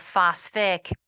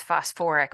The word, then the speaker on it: phosphoric: that extra syllable so instead of sulfus acid it's sulfurous instead of phosph it's phosphoric but sulfur and phosphorus are